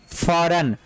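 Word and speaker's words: foreign: ठीक है, तो यहाँ पे भी क्या पढ़ेंगे, फॉरन। यहाँ पे जी वर्ड साइलेंट होगा और इसको क्या पढ़ेंगे, फॉरन।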